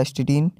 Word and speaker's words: astatine: तो इसको प्रोनाउंसिएशन किया जाता है एस्टेटिन, और अपीरेंस जो है